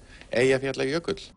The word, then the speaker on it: Eyjafjallajökull: Eyja Fjalla Jökull.